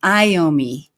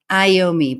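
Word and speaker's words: Iommi: oh thank you so much for the phonetic pronunciation iomi iomi Black Sabbath's guitarist see guys I literally do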